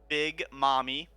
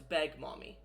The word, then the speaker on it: Beg Mommy: So, upon hearing that, I actually look over to my supervisor, Big Mommy, No, it's Beg Mommy. Beg Mommy. Yeah. Beg, Just can so I everyone's have aware, it's spelled BEHGMAHMMY.